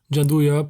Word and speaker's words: Gianduja: Gianduja, pronounced Gianduja, blends chocolate with roughly 30% hazelnut paste into something unbelievably smooth, and the entire thing exists because of Napoleon.